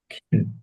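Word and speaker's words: kill: Save রক্ষা করা, কিল, এটা সেই দেখেন, এই যে এটা কিল না, হ্যাঁ, খিল, ঠিক আছে? হিট হ্যাঁ, খিল হত্যা করা, ঠিক। লাইক পছন্দ করা, হেইট ঘৃণা স্যার করা। এটা বড় অক্ষর উচ্চারণ হবে খিল। হ্যাঁ, খিল, হ্যাঁ, খিল।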